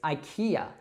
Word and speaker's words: IKEA: as a word, but this isn't actually really an acronym. So we call this place IKEA.